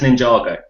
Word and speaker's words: Ninjago: Hattie Fuller has said it's Ninjago. Is she the adjudicator? Well, she's something. Okay. I'm not quite sure what, but yeah, sure. We'll go with Ninjago then. Apologies for saying it wrong, Hattie.